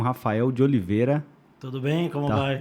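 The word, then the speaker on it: Raphael D'Oliveira: Eu tô com o Rafael de Oliveira. Tudo bem? Como vai? Tá certa a pronúncia ou não? Rafael de Oliveira. De Oliveira. É bem o português. É bem português.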